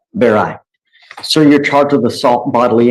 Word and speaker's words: Barrio: Is it Baroy? How do I pronounce it? Barai.